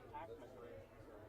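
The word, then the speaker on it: Packman: I'm a music artist, and my artist name is Pac-Man. Pac-Man? I know you're Pac-Man, yeah, like a video game, but it's spelled P-A-C-K-M-A-N.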